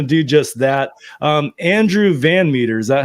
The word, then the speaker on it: VanMeter: just that um Andrew Van Meter is that how you pronounce it yep just like it's spelled is the president the